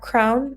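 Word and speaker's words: KRWN: So, we are on Twitter, Crown, which is spelled KR WN_studio, and it's the same user handle for Instagram as well.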